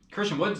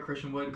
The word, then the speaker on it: Christian Wood: Christian Woods though, he's pretty good. He had 31 points. Did I say it right, Christian Wood?